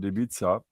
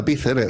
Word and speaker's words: Ibiza: We're talking about Ibiza. Ibiza. Ibiza. Ibiza, mate. Ibiza.